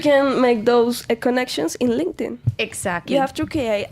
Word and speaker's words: LinkedIn: The pronunciation is not linkerin. What is linda? It's LinkedIn. Thank you very much. Because many people say link. No, no, guys. LinkedIn. Okay. LinkedIn.